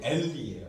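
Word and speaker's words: עֵלִי: 그 할아버지의 이름이 엘리예요 엘리 근데이이 아인이 차처럼 생긴 것이 음이라고 했죠 그 발음이 안 돼요 그래서이 모음 이게 자 발음인데 좀 두 개가 발음 나는데예요 엘리 그니까 엘리가 앞에 그 엘리의 그이 앞에 첫 번째 글자가 알렙이 아니라 아인의 엘리라는 것이 이름의 특징입니다 근데 주님이 십자가에 돌아가기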